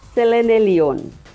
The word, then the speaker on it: Selenelion: Friend, the horizontal lunar eclipse or Selenelion, how do you pronounce? Selenelion. Selenelion.